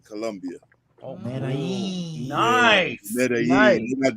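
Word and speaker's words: Medellín: But I shot the video in Medellin, Colombia. You talked over Edley. What were you saying? I said it was produced by some Brazilian producers, the song, but I shot the video in Medellin, Colombia.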